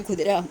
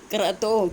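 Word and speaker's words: ക്രതൗ: ക്രതോ കൃതോ അല്ല, ക്രതോ സമാപ്തോ.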